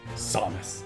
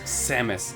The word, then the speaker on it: Samus: Yes, I pronounce her name Samus. And do you know why? It's because of this guy. Samus! I know her name is technically pronounced Samus, but it's really hard to change the hardwiring in my brain after years of playing Melee.